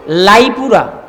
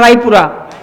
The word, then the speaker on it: রায়পুরা: এই মনোহরদী, এর মধ্যে নরসিংদী জেলার 7 থানার এক থানার নাম হলো লাইপুরা। কি পুরা? লাইপুরা না রায়পুরা?